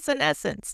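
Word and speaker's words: senescence: Vonda Wright's book, scessence.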